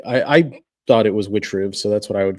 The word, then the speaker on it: Witchriv: Witch I'm gonna say witch, not IV because that sounds stupid. Witch rib sounds cool and edgy. I figured it I I thought it was witch ribs, so that's what I would go with.